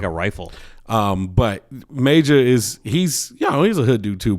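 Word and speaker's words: Majah: He goes by Major, yeah. Oh, you have to say it like that? Major? Major. Yes. Major? It's spelled M-A-J-A-H. Major.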